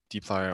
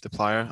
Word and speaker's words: dplyr: dplyr there's five main uh d player or the plier i've heard it pronounced both ways i'll leave that up to you um so there's five